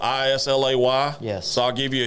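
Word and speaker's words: Islay: Brook lot eight-year-old uh Isley barley 2013. this is spelled i-s-l-a-y yes so I'll give you a hint in the scotch world that's pronounced Isla Isla it's a Isla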